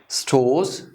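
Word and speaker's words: stores: स्टोर्स, स्टोर्स, चूंकि ई की sound नहीं है, एंडिंग आर आ रहा है, स्टोर, स्टोर्स, तो हम इस आर को नहीं प्रोनाउंस करेंगे, स्टोर्स।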